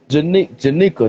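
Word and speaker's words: Jennika: love about this stuff Janika that's the right way to say her name is better okay Janika Janika okay okay so Janika was introduced in 2019 TMNT number 95.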